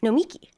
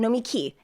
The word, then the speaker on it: Nomiki: Nomiki. I'm putting the emphasis on the wrong word. Everybody does it. Nomiki. And Did I just say it right? Name. Yeah, Nomiki. Accent on the last syllable.